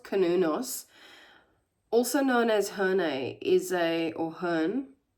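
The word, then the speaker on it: Cernunnos: So Sanunos, I keep saying Sanunos, it's pronounced Kanunos, also known as Herne, Herne, is a Celtic stag god who represents connection to the earth.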